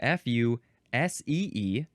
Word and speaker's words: fusee: This is spelled F-U-S-E-E, pronounced fusee.